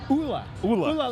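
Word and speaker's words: Olle: And she's like, "Yeah, it's Ula."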